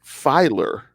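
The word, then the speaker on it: Feiler: But I thought that Matt Filer.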